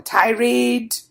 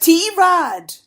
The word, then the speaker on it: Tirade: remind the audiences that is not pronounced e-rate or tirade but tierod the way we like to say it on this no-holds-barred fortnightly podcast with